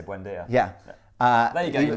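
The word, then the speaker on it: Buendía: million for the guy who I always can't pronounce his name. You're going to say Buendia?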